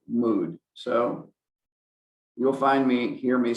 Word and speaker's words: mood: When we talk about mode or mood, sorry, I learned to pronounce this grammatical term as mode and not mood, but I've since had to learn better that most grammarians do say mood.